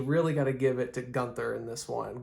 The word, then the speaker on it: Gunther: Gotta Give it to Gunther in this one Gunter however you pronounce it I believe he's supposed to be pronounced as Gunter which I'm okay with